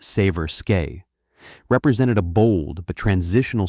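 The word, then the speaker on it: Seversky: The Severki P35, pronounced Saver Skeay, represented a bold but transitional step toward modern fighter construction.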